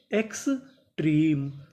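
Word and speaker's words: extreme: इसे पढ़ेंगे म क्योंकि आखिरी में हमें इ का उच्चारण तो करना नहीं। तो मीनिंग क्या बनी? एक्स ट्रीम एक्सट्रीम एक्सट्रीम का मतलब होता है अत्याधिक तो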